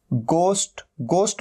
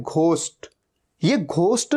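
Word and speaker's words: ghost: क्या होता है भूत और कई लोग इसे गलत भी प्रोनाउंस करते हैं इसे कहते हैं घोस्ट यह घोस्ट नहीं होता हमेशा ध्यान रखना है ये क्या है घोस्ट गोस्ट और यह इसे दो तरीके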